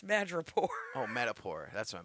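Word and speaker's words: Madripoor: picked it up in madraport not matador Matador is the bull fighter in Spain what did I say you said Matador it's mad Rapport oh metapore that's why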